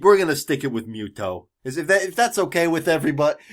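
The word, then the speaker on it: Mytho: have mute oh who his name is Miss OH spelled myth alike myths but I was a little too on point it is Japanese way to pronounce that it just comes out to mute oh and when the localizer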